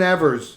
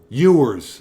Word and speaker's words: Ewers: We covered some specific topics, but Quinn Evers is going to the Ohio State. Ewers, I guess, is the proper pronunciation.